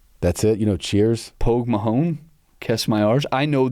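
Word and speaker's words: póg mo thóin: It, yeah, I was going to say, you're saying it like a guy from Iowa. Like, Pose Mahone.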